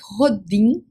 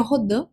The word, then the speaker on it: Rodin: que o matemático, né, Mark Rodim ou Rodan, como queira pronunciar, o certo seria Rodã, mas vou falar então marca rodinho, só para você entender como é que se escreve, tá?